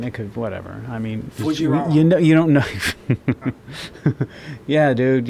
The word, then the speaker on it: Fujiwhara: Fujiwhara. Fujiwhara And I'm Effect. saying it like that because I know how they pronounce their R's.